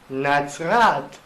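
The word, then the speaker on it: נצרת: Bueno, en hebreo Nazaret, como dije, se pronuncia Nazrat, como lo vimos anteriormente.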